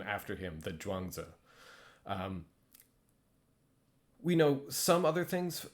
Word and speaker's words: Zhuangzi: These words are pronounced the same. So Zhuangzi is how you pronounce this, whichever way you're writing it in Roman letters.